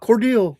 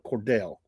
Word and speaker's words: Cordell: Um, you know, my name's Cordell and uh, not Cordel there, Dean. Not Cordel, Cordell.